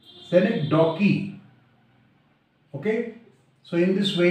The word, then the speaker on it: synecdoche: what is select dockey how you will pronunciate it select daw key select dockey okay so in this